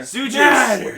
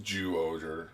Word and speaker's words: Zyuohger: It was spelled with a Z. We chose It to call it doesn't Zyuohger. Zuger. Yeah, it's Zuger. Zuger. Though with TV Nihon subs, they did call it Jew-Oger.